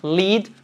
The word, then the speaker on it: lead: E em contrapartida, chumbo, lead, tem a mesma pronúncia, apesar de escritas diferentes, que o passado do verbo liderar.